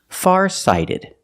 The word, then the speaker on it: farsighted: Pronunciation, farsighted. The T is pronounced like a fast D because phonetically it's between vowels.